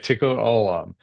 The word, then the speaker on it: Tikkun Olam: Uh, Tikkun Olam. Did Yeah, I pronounce tikkun that right? olam, you got it. Okay, Tikkun Olam.